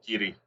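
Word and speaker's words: Garioch: Yeah, Gary, pronounced Giddy.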